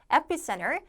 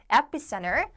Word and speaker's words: epicenter: 그 이제 우한이 있죠 epicenter epicenter 앞에 강세 해두시고 따라 읽으면서 하세요 지금 여러분들 이게 감각이 항상이 안 되면은 가소도 잘 안 나와요이 철자를 우리가 외우는 시험이 아니기 때문에 내 보세요 epicenter epicenter 그다음에 자 광범위하게